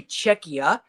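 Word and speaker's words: Czechia: You'll see Czech Republic on your book, but they're really Czecha.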